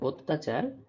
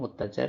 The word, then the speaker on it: অত্যাচার: পারলাম দ্বিতীয় শব্দ হচ্ছে অত্যাচার এখানেও অ ছিল বানানে। কিন্তু উচ্চারণে ও কারে পরিণত হয়েছে।